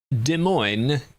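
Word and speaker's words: Des Moines: And uh De Moine is basically how he said it.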